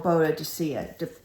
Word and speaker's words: Boadicea: Also, I want to look at Queen Boudica or Boadicea. Depends on how you want to pronounce it, because I know she was a pagan queen, but she was also defending England.